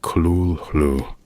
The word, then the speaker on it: Cthulhu: Lovecraft himself admitted the name was untransatable in human phonetics, suggesting in his letters that it sounded something like Kulu.